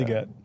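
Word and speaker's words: Legette: They have Xavier Leggett, or how do you pronounce his name? Leggett.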